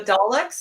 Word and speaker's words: Daleks: The Daleks, is that how you say it?